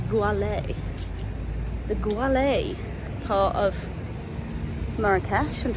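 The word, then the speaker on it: Gueliz: And it's in a neighbourhood which, if you're like me, would probably pronounce it as Gouliz, but it's not Gouliz, I think it's Goualé.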